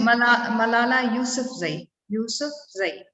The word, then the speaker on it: Malala Yousafzai: Rukia, can you please repeat the pronunciation of the name? Malala Yousafzai.